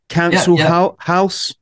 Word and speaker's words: Cancel Haus: Cancel House? Cancel House? Yeah, the house is spelt the German way. Yeah. H-A-U-S, and it's not your council tax way. It's like council culture way.